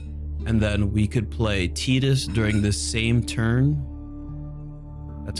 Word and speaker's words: Tidus: We get the pup on the battlefield, and then we could play Tidus during the same turn. That's how you pronounce his name.